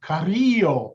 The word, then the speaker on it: Carrillo: So anyway, what happened I'm going to use the Spanish pronunciation, Carrillo.